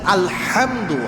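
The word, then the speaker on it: الحمد: এই জন্য আলহামদু, হাটা ভালোভাবে উচ্চারণ করতে হবে।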